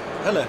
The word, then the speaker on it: Helle: Helle, yeah.